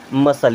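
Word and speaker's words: muscle: मसल क्या पढ़ते हैं मसल यहां पर सी साइलेंट होता है क्या पढ़ेंगे मसल यानी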